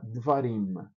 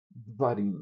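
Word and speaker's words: דְּבָרִים: Quando isso acontece, o camates vai virar um chvá de davar, que seria davarim, vai ficar devarim. Dvarim, ela é bem breve a pronúncia.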